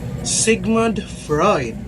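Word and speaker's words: Sigmund Freud: So the way to pronounce his name is this Sigmud Freud.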